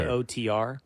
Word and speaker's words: Piotr: Piotr. Pronounce it Piotr.